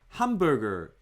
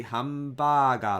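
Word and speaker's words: ハンバーガー: If you don't have the concept of mora, say hamburger like hamburger, hamburger. To Japanese people's ears, it sounds a little bit weird because you don't pronounce ham long enough.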